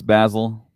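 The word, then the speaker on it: Bazil: U pretty far but uh this particular character Basel I guess has shorter teeth that b so yeah we find out the name it's basil I kind of wasn't quite sure how to pronounce it but yeah it is basil um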